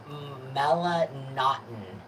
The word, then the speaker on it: melanotan: So today, I was listening to a podcast, and I've never heard it pronounced this way, so I'm going to try to pronounce it. So, melanotin. I've been calling it melanotan forever.